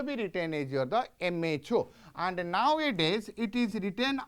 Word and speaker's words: mho: the reverse order so if ohm you will pronounce and make it in the reverse way that is equals to your the m h o that is your the